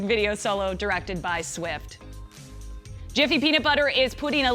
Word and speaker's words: GIF: of the looping image says it's pronounced with a soft G like the peanut butter